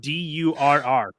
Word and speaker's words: Durr: It's just Durr. So I'm like, that's the only way it's got to be pronounced. Durr.